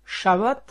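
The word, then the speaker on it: שבת: repos de Dieu est shabbat dans lequel le baai central se prononce V il est de la même racine que le chiffre 7 ainsi le Chabbat prononcé Shabat sera plus tard présenté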